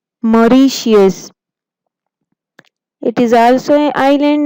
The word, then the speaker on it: Mauritius: Pronounce again. Mauritius. Mauritius.